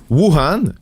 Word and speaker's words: Wuhan: Wuhan, le berceau de la COVID-19, très chanceux, n'a pas à être francisé, si vous le demandiez, c'est la prononciation exacte en chinois.